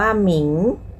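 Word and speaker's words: 名: คะ เป็น แม่ กง นะ คะ อิง เช่น คำ ว่า หมิง หมิง แปล ว่า ชื่อ ค่ะ หมิง ตะกี้ เสียง in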